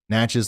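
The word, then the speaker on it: Natchez: uh near Stanton and natches uh Mississippi okay matches like matches so I said it right the first time somebody was just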